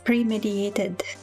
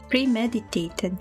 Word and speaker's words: premeditated: The start of Phoenix's premediated murder arc. Am I even pronouncing that word correctly? Premed. Premeditated. Premeditated. Not premediated.